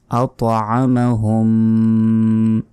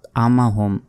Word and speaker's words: أطعمهم: আল্লাযী আত'আমাহুম, অনেকে বলি আমাহুম, আত বললে এখানে তর উচ্চারণ হলো না, আমা বললে এখানে আইনের উচ্চারণ হলো না।